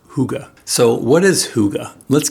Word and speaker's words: hygge: So Hygge is actually spelled Hygge and is pronounced as Hygge.